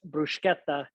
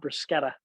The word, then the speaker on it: bruschetta: Again, pronounced bruschetta, not bruschetta.